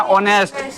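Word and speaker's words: honest: काहे के ऑनेस्ट में जो है उच्चारण किसका आ रहा है? ओ का आता है ना, ऑनेस्ट।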